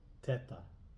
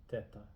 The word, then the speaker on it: teta: there are three sounds there's open E like in bet e and the example they have is Teta Teta which is ant or